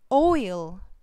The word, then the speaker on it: oil: Oil, oil. When you pronounce this word first, 먼저 발음을 할 때 입술을 이렇게 동그랗게 모아서 시작을 해야 돼요.